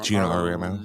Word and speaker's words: Auriemma: Gino Auriemma.